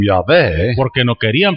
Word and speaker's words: Yahweh: So they would have pronounced it something like this, Así que lo hubieran pronunciado algo así más o menos. and which is why I have said Yahweh.